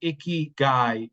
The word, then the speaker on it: Ikigai: of you who don't know what the term icky guy is I'm going to have the wonderful Sarah